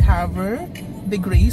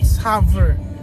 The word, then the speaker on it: Havre de Grace: ni Pablo here in hav the grace So yun pala ang tamang pronunciation hindi siya hover hover the Grace hindi ko natanong kung